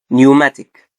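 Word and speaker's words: pneumatic: بي بعدها ان هنا هتبقى ايه؟ البي سايلنت. فهنقول ايه؟ نمونيا، نيوماتيك.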